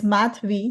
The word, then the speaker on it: Madhavi: So, Madhavi is a pretty name, and the way I like to tell people to pronounce if they have difficulty pronouncing is it has math in my name. So it's Madhavi, like Gary V.